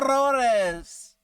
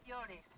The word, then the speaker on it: llores: You're saying it wrong. No, Rores? Rores? Is it no Rores? No llores. No llores. Oh, I knew that double L was a yeah.